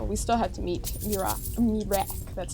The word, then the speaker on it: Miraak: So, we still had to meet Mirac. That's how they pronounced it.